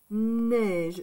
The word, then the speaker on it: neige: Neige, c'est comme ça, neige. C'est pareil. C'est pareil. Donc, neige, N, E, I. E et I, ça fait le son E.